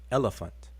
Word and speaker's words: elephant: you're dealing with so this top one represents how it sounds which is elant elephant elephant you see this the syllable the stresses on the first syllable elephant not elephant not that or not elepant not that it's elephant then this the one